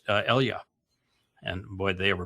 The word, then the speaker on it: Elijah: And, I just watched a long video on what they call Elijah, but Elia.